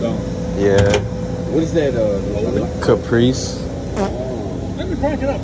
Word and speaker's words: Caprice: How you pronounce the name again? Caprice.